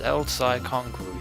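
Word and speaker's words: El Psy Kongroo: はい頑張ります。エルサイこんがり And once again, Ruka mispronounces the last word of the code phrase. コングルーだ。いい加減覚えろ。 It's Elsai Kongru, 3 words that mean absolutely nothing.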